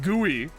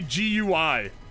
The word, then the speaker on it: GUI: way skill issue pronounce pronunciation of guey you pronounce it gooey though I used to say GUI and I didn't realize that people pronounced it